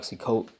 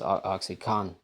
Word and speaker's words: OxyContin: This Netflix show called OxyContin, not Oxycoat, Cotton. It's actually pronounced OxyContin, CONTIN.